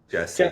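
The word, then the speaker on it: Gessi: You just recently visited I believe it was Is it Gassie? How do you say it? Say it the New York showroom. Jessie.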